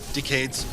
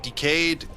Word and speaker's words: Decade: I think the end is like um Decade's actor where he really likes the material, so he likes to be involved whenever Tolli lets them. I know it's pronounced decade, but the character pronounces it decayed, and that's that's how I pronounce it.